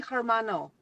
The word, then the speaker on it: hermano: Muchas gracias, mi hermano. Okay. So you said mis, which is more than one. No, So I said mi hermano. Okay, mi hermano, yes. Mm-hmm. The H is silent there.